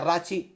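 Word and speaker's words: Rațiu: al menos en España los comentaristas lo llamasen rachu o rachi o algo así A lo mejor se pronuncia rachi en rumano No seré yo quien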